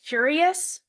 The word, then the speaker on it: Cureus: And this study, it was published in the journal Curious, which is spelled Cureus, right?